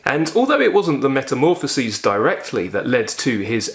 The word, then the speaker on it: Metamorphoses: Metamorphoses is the Greek word for transformation, though you would pronounce it metamorphoses.